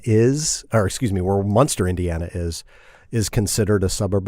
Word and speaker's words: Munster: In a town called Munster, not like the cheese. I mean, it sounds like the cheese, but it's not spelled like the cheese. Munster, Munster, which is about as